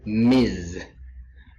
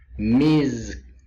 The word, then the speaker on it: Ms: is my best teacher Ms title two um Miz Miz is pronounced it's it ends with s but it's